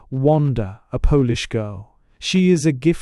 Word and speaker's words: Unda: The artiste of the hall is Unda, pronounced Wanda, a Polish girl.